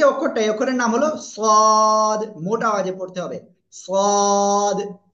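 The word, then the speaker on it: صاد: ওকে এই যে অক্ষরটা এই অক্ষরের নাম হলো সদ মোটা আওয়াজে পড়তে হবে সদ জিহ্বার আগা সামনে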